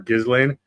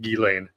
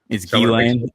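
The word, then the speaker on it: Ghislaine: And you were guilty of it when you did your first one on this channel of calling her Gizlane.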